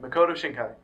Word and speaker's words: Makoto Shinkai: you Shai Makoto shinai I was right shinkai Makoto shinkai so yeah check him out hope prob way wrong it's us pronouncing it yeah it's us pronouncing it um